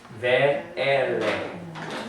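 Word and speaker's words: וְאֵלֶּה: Ve-ele. Mouth is still open. So it's an open syllable.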